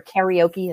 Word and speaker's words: karaoke: Karaoke, or karaoke, as some people pronounce it. Karaoke is the Japanese way to say it funny.